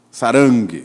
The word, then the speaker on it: Sarang: Sarang, sei lá, em coreano é assim que se pronuncia. Sarang.